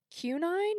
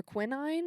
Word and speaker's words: quinine: Uh Qunine or quinine, it's qui N I N E.